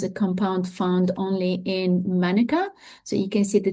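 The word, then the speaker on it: mānuka: compound found only in manuka. So you can see the difference in pronunciation. So because the a has that little line in New Zealand they call it manuka while in Australia we say manuka uh mana flower nectar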